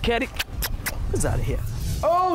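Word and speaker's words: Caddy: Your boy C-A-D-D-Y pronounced Kerry.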